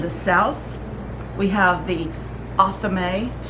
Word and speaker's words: athame: Now, I have heard it pronounced Athame. I think it's a matter of country, wherever you're from. We in America pronounce it Athame, but I'm not saying that's the only way to say it, but it is pretty close.